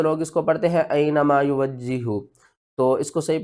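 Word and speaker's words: أَيْنَمَا: سب سے پہلے اس کے ہجے کر لیتے ہیں. حمزہ یا زبر ای، نون زبر نا، اینا، میم الف زبر ما، اینما.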